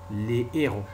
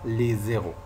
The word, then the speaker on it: les héros: Et si on écrit ce mot au pluriel, ça devient les héros. Les héros, et non pas les zéros. C'est faux. La prononciation correcte est les héros.